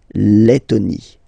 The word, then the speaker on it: Lettonie: So remember when you get this E and then a double letter like that, T, T, okay, then you will have to open your E and it will become E, le, Lettonie.